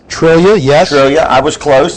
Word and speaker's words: Triglia: Trillia, yes. Trillia. I was close. So Close. Sure you Spelled Triglia, pronounced Trillia.